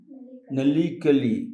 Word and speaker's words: Nalikali: Because only Nalikali, how do you pronounce it? Nalikali, in Kannada, Nalikali, learned through fun, and it is with the song and the dance and the Biti Nataka, Biti Nataka.